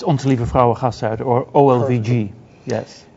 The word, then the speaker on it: Onze Lieve Vrouwengasthuis: I cannot pronounce, and I'm not even sure that you can pronounce it, Freek. Yes, it's Onze Lieve Vrouwengasthuis, or OLVG.